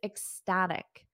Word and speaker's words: ecstatic: about this one he's ecstatic so we have this C Sound at the beginning and end I ecstatic etic repeat after me ecstatic